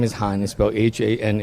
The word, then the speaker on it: Hanh: my first my first name is highness Bell Haan H and even though this one singable you know one syllable pronunciation a lot of my friends and